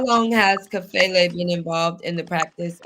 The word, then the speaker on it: Kafele: Kafele. Kafele.